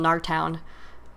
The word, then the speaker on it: Gnartown: It's G-N-A-R, so I'm assuming the G is silent, so I'm just going to call him Gnartown.